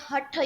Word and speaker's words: Hatha: So in his podcast, he talked about Hath Yoga. You can read more about Hath Yoga here. Will I be able to tell you anything? Mummy pronounces it as Hatha Yoga Hatha Yoga Hut Yoga is for